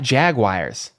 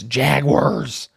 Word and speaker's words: Jaguars: It's not Jaguars. It's Jaguars."